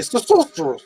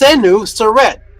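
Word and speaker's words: Senusret: The Greeks can't seem to say his name. They say sorcerer. Sorcererous. It's senuret. How in the world do you get soret from senu?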